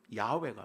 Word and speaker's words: 야훼: 되었냐면 여호와가 되는 거예요 여호와라는 바람은 틀린 거예요 야외가 맞아요 이럴 정도니까 원래 발음을